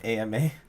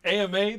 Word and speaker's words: Ama: spell that for me ama i've been messing up ama this whole time like llama i'm a llama yeah